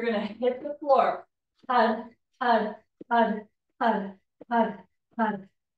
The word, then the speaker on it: Har: to use the mantra Had and then Hari. So 7 times we'll chant Had. It's spelled H-A-R, but when we say it, we really want to be contracting in our belly.